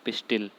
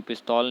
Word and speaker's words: pistil: में बोला जाता है पिस्टिल। पिस्टिल बोलते हैं। कोई पिस्तौल नहीं है वो, पिस्टिल बोलते हैं। और इंग्लिश की स्पेलिंग लिखेंगे तो PISTIL, पिस्टिल। स्त्री केसर को बोलते हैं पिस्टिल।